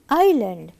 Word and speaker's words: island: S is silent. Island.